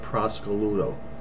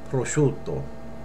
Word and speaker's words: prosciutto: an Italian market and she said give me a half a pound of Prosecco Ludo you will never say that you'll say prosciutto okay we'll say it correctly